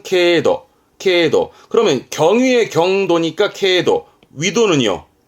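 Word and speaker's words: 経度: 발음은 케도.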